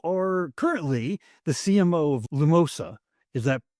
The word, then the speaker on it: Lumosa: And Yaris, you are currently the CMO of Lumosa. Is that correct how I pronounce that? Absolutely. Perfect. Lumosa.